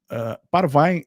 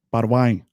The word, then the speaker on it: Parvaim: Então, Parvine é pronúncia alterada de Parwin, conforme eu disse. Por isso que o antigo alfabeto latino confundia o V e o U, que o Yod, que é a vogal I, muitas vezes se lê com a pronúncia de Ai em hebraico. Então fica Parwine, né?